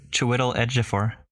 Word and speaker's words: Chiwetel Ejiofor: It is main guy whose name I will not be able to pronounce well. I can do it for you. It's Chiwetel Ejiofor.